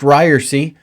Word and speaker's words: Ryerse: It is pronounced Ryerse. That's how it's pronounced, with the long E.